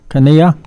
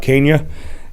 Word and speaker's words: Kania: last speaker card Mr Kania am I pronouncing that right sir I'm sorry please correct me okay pronounce it right I marry her I guess that's the reason is that the reason you're married not really but uh good evening my name is Kenya and I'm a resident